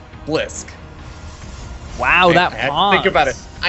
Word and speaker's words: Blysk: the blue Protoss player we got official pronunciation lessons from him in the lobby it is BLISK wow that about it